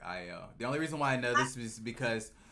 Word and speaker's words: Ayo: Like it may look like Ayo, but just the A, it has the I sound, so it's like Io.